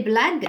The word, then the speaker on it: blagues: pardon des blagues alors des blagues je dois mettre j'ai avec le U pour éviter le sanglage alors des Alice et